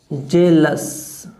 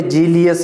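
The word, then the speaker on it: jealous: फेमस के बाद में अपन बनाए जेलस, जेलस का क्या होगा, जेलस, जेलस, जेल्स, जेल्स। Clear, जेल्स, note ए जीलियस या जो भी वर्ड बोलते हो आप, जेल्स।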